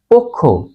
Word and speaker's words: অক্ষ: হবে সঠিক উচ্চারণ পক্ষ আবার বলি শব্দের প্রথমে অ বা ব্যঞ্জনে যুক্ত অ এর পর খেয় থাকলে অ এর উচ্চারণ ও এর মত হয় অক্ষ পক্ষ দক্ষ পক্ষ